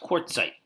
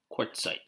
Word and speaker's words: quartzite: of a non-foliated rock marble non-foliated this is pronounced quartzite quartzite okay so marble has to come from a